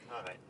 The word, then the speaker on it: Hareid: ¿Lo pronuncié bien? Sí, Hareid.